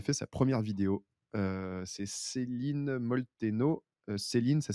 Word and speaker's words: Céline Molteno: C'est Céline Molteno. Céline, ça s'écrit pas comme en France, ça s'écrit SelenE et Molteno, Molteno.